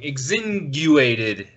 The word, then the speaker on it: Exsanguinated: Exsanguinated. Exsanguinated. Yep, like penguin is how I was described. I don't speak very well either. It was described like penguin.